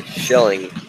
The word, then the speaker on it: Schilling: Shilling.